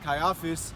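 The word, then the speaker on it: Caiaphas: office you know yeah I'm saying it right Kai office that's how you say his name you know Slovakia I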